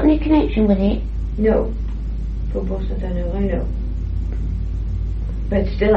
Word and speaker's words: Faubourg: Faubourg, I don't pronounce it properly. Yes. See. Yes. But do you know where that is? Yes, of course I do. You got any connection with it? No. Faubourg Saint-Honoré, I know.